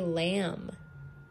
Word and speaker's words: lamb: Remember, as strange as it looks, sometimes M-B just makes the M sound, like in lamb.